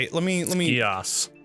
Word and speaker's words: Geas: Geas. Geas? Is that it? Mm-hmm. Geas.